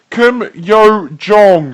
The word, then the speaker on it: Kim Yo Jong: Party official and Tom it's pronounced Kim yo Jong okay I apologize wether